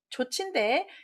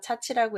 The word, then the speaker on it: 조치: 자, 답은 조치인데 얘를 빌릴 차자로 생각해서 차치라고 읽으실 수 있는데요. 차가 되려면 앞에가 사람인 변자여야 됩니다.